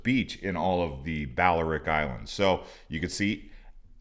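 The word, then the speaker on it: Balearic: got the coolest beach in all of the baleric islands so you could see isla illest balors but we pronounce it baleric okay uh the english speakers now the tithirian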